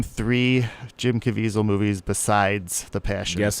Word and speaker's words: Caviezel: zero Jim Caviezel movies really am I even pronouncing his name Caviezel yes you know that he was in talks